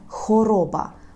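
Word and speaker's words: choroba: хвороба польською - це хороба хороба Пам'ятайте про те що не хво а хороба хороба як ми скажемо кров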